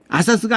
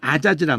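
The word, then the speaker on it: עָזַז: 아사스가 아니라 아자즈란 말이에요.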